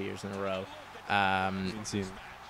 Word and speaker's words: Cena: Cena. You said it wrong. Cena, my bad.